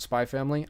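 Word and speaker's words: Spy × Family: Spy Family. I really like the anime. I haven't actually... Yeah, Spy X Family. You don't pronounce the X, technically.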